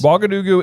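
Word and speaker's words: Ouagadougou: Wagadugu is a real place, and actually, the reason I'm pronouncing it correctly is because I looked it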